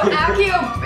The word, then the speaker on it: Accio: If you've seen, first off, that's pronounced. Accio. Accio. Accio. It's Accio. I mean, we can keep saying it.